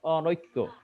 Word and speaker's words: অনৈক্য: অনৈক্য যেমন কি অনৈক্য এখানে দেখো প্রথম যে অটা আছে অ ঠিক আছে কেন ঠিক আছে এটা একটা নেতিবাচক শব্দ এজন্য ন আছে তারপর দেখো ন এর সাথে ঐকার আছে কিন্তু উচ্চারণে এর ক্ষেত্রে আর ঐকারটা নাই সেখানে হয়ে গেছে ন ওকার সেখানে হয়ে